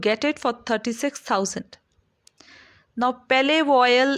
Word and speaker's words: Palais Royal: Now, Palais Royal is the French pronunciation.